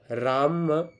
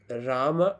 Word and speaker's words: राम: miss pronounce मत करो राम राम इज राम राम और रामा ठीक है रामो मत बोलो रामा रामा आए मत बोलो मतलब कोशिश करो कि